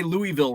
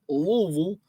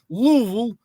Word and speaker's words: Louisville: kernels I didn't say Louisville right because you've got to pronounce it with as few uh syllables as possible like Louisville Louisville uh Justin Morneau with